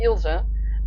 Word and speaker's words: Ilse: Netherlands we just say Ilse, and it's not, for us it's not an A. It's at the end it's the E, but we pronounce the E differently than it is pronounced in English.